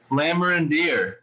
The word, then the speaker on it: Lamorandier: lions um insider analyst for sports illustrated lammer and dear am i saying that right nice work i